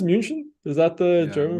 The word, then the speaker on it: München: Is it pronounced München? Is that the Yeah. German? München.